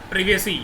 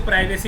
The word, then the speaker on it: privacy: अब अपन जो next topic है, नेक्स्ट अपना है, दैट इज़ प्रिवेसी या प्राइवेसी। कुछ लोग इसको प्राइवेसी भी बोलते हैं, लेकिन अब इसका प्रोनाउंसिएशन चेंज हो गया है, दैट इज़ प्रिवेसी, ठीक है ना।